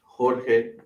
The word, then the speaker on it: Jorge: Jorge, the J is just, we say it like an H, Jorge, right?